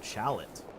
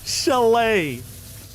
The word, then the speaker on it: chalet: Chalot. That the name of a house that's built on a mountain or something. Chalot sounds like something you would drink out of. That's chalice. Chalet.